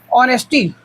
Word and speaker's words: honesty: ऑनेस्टी, ऑनेस्टी के अपन जो बोला था प्रोनाउंसिएशन है, उच्चारण है या फिर साउंड बोल सकता है, वो का है अ में है, ऑनेस्टी।